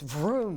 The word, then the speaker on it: Vroom: It's Vroom. It's really Isn't that the way it's intended? That's the way it's spelled, right?